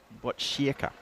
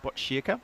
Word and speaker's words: Botkyrka: Make sure you get the pronunciation right. Need to get it right. It's Botkyrka. That's what we call it. Botkyrka.